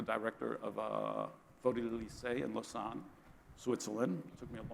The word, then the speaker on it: Lausanne: So Nathalie Herschdorfer, as I've told you, is the director of Photo Elysée in Lausanne, Switzerland. It took me a long time to pronounce that correctly.